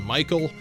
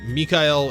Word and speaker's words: Mikael: a mech that is in the dub is pronounced Saudade, but in the Japanese it is Mikael and Saudade, so that's the pronunciation I went with.